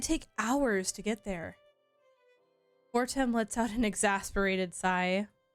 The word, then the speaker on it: Fortem: He says Fortem's name Fortame instead of Fortem, and other people say Fortem.